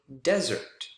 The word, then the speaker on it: desert: If you stress the wrong syllable, for example, dessert, second syllable is different from, but sounds similar to desert.